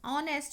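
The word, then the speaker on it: honest: his fathers day आईएस ऑनेस्ट मैन यहां पर ऐसे साइलेंट है कि अपनी स्टेशन होती है इसकी ऑनेस्ट तो ऑनेस्ट में वो आया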